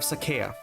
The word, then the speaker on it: Sacae: it I don't know I don't know if I want to pronounce Sakai instead of Saka like I usually do when I was a kid it's probably because I just I kept reading it in my mind in my mind it sounds like Saka like the plains of Saka not Saka okay I I guess I'll say it Sak because that's the right way to say it it